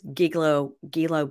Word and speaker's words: Gilgo: It's Gilgo Beach.